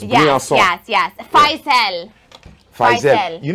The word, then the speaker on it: Briançon: Yeah, you see when it has that little thing on the bottom, you say it like soft. So it's Briançon.